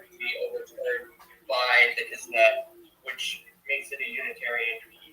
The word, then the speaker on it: Knesset: No, it's Knesset. No, kin. Say kin. Ness. It. Kin.